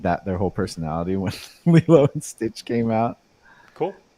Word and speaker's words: Lilo: also another Li and Stitch yeah Lilo L Lilo I knew I was saying it wrong I